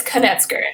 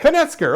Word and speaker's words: Knetzger: It is Knetzger, right? That's I got the pronunciation there? It's Knetzger. Knetzger, okay, Knetzger, very, very good.